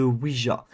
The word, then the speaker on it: Ouija: trouve très sympathique personnellement ça vient de Ouija si vous ne le prononcez pas comme ça vous le prononcez comme vous voulez en tout cas ça